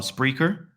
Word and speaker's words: Spreaker: find me is on spreer and how you spell that s SP r e a k e r correct it's like speaker but with an R yes okay that's the